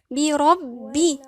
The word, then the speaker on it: بربي: أعوذ بربي، هنخلي بالنا هنا الباء مشددة. إيه معنى الحرف مشدد؟ يعني يتكون من حرفين، ساكن ومتحرك.